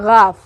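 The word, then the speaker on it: گاف: गाफ, गला से बोलना है, गाफ, ठीक है।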